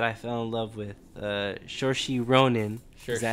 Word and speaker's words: Saoirse: Saoirse Ronan. Is that how you say his name? Saoirse, yeah.